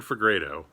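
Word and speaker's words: Fegredo: this name for grado for fi grado duncan for grado that's how you say it i don't know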